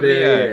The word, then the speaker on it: Le Verrier: But it's like, how do you pronounce Perrier? Verrier. It's Verrier. Urban Le Verrier.